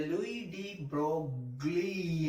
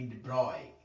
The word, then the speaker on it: de Broglie: Hi my dear children, in today's class we are going to discuss about the Louis de Broglie, as you say, but it is a wrong pronunciation. It has to be de Broglie.